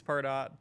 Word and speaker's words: Pardot: to pronounce that, because half the company called it Pardot and half of them called it Pardo. So, I still am not sure which one is correct. I think it's Pardot.